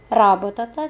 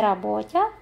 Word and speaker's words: работата: Харесвате ли работата си? Внимание на ударение. Работата, да? А не работя, но работа.